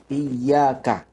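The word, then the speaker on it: إياك: Para ahli qiraah sabaah dan jumhurul ulama membacanya dengan memberikan tasydid pada ya, yaitu pada kata iyaka ya, tasdid di huruf ya.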